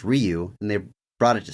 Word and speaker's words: Ryu: Ken had trouble saying Ryu he kept saying rayu and whenever he brought this up on set he's like well actually it's pronounced Ryu and they brought it to Steven and Steven's